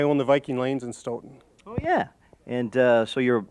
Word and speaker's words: Stoughton: of office actually it's Stoughton isn't it yes it is the the old the old world pronunciation is Staton and if you were in ireland it would be Staton but of course in